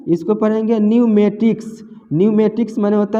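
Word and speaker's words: pneumatics: यहाँ भी देखिए एन से पहले पी है तो पी को नहीं पढ़ना है, इसको पढ़ेंगे न्यूमेटिक्स, न्यूमेटिक्स माने होता है वायु चालित।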